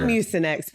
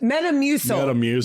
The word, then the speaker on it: Metamucil: Not mucinx. What? Metamucil.